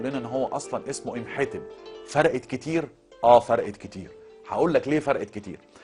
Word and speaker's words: إمحتب: لكن لما تقول إمحتب وهو الاسم الأصلي والنطق الصحيح لاسم هذا الرجل الجهبذ، يبقى انت برضه بتديله معنى تاني.